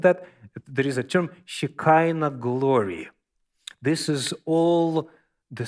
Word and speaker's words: shekinah: same uh base which is in english it's pronounced shikaina have you heard of that there is a term shekinah glory this is all the same word from